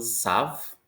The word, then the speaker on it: savent: Ils savent. Ils savent. Ils ne savent pas. Elles savent. Savent. The last thing you're pronouncing is the V.